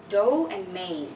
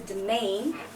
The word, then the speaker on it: domain: so what is this do and Main right well not really so it's a domain okay so we don't really say do and then main it's a domain you're not very brave